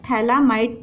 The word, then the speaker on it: phthalamide: इसको क्या कहते हैं, थैलामाइड, पीएच साइलेंट, थैलामाइड।